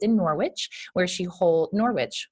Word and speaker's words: Norwich: She is based in Norwich, where she holds Norwich, correct? Is that how you pronounce it?